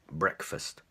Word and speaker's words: breakfast: breakfast breakfast now if you just look at the fur part of that word then it's break it's break for example to break something to break a mug to break a glass for example but in this case with this word by itself eat brick breakfast breakfast so when you have this word breakfast it's breakfast okay so those are your